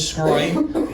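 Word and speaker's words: Sgroi: of alluded to uh my last name is scroy got a very weird spelling for an Italian last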